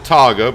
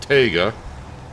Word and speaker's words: TGA: model but it's a TGA I used to pronounce it taga but then a lot of people correct me and said no it's pronounced TGA uh but what is it called it's a